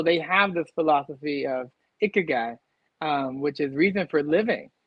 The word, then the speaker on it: Ikigai: Well, so what is Ikigai? Did I pronounce that correctly?